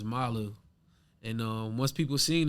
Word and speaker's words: NMALU: are like us but the acronym is pronounced malu and um once people